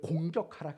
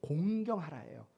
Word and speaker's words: 공경하라: 뭐죠 내 부모를 공경하라요 이거 발음을 잘해야 돼요 내 부모를 공격하라 아니라 내 부모를 공경하라예요 어 나는 부모를 공경하는